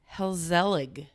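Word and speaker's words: gezellig: welcoming close it's uh let me try and say it helig I wasn't even close but it's spelled with a G so g e z e l l i g anyway so they have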